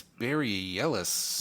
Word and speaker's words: Bareilles: I think it's Barry Ellis.